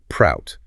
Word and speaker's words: PROUT: Whenever we refer to the uh socioeconomic part of this framework, we'll be saying prout as a single word rhyming with sprout rather than stalling out the letters.